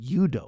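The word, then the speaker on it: 유도: don't call it judo, they call it yudo, which is the Korean pronunciation judo, too, but they're like, nah, it's different.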